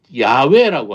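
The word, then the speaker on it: 야웨: 학자들은 그 여호와의 정확한 발음이 야외라고 합니다.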